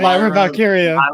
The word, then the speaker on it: Lyra Valkyria: this name because I've literally never heard it pronounced. Is it Lyra Valkyria? Did I get that right? Lyra Valkyria.